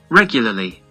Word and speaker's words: regularly: Правильное произношение regularly. То есть R не читается. Либо в американском чуть-чуть призвук есть, но он все равно буковка R проглатывается. Regularly.